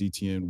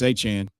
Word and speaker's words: Etienne: So I'm willing to bet that we're being predictive and we're being proactive and we're selecting Travis Etienne where Travis Achan, forgive me.